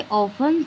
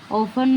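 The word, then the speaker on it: often: Under it आई ऑफन seed. अक्सर मैं यहां पर इसके नीचे आके बैठ जाता हूं। ऑफन मतलब नीचे। यहां का टी साइलेंट है।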